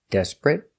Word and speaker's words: desperate: he's very inconsiderate so remember these important words they are not verbs so they are not pronounced eight but they are pronounced it remember desperate consolate Immaculate illiterate considerate